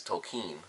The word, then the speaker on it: Tolkien: I always thought it was just Tolkien, it's Tolkien, that's how you pronounce it.